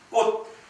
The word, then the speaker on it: 꽃: 꽃, 치읒은 디귿으로 발음되는 것이죠.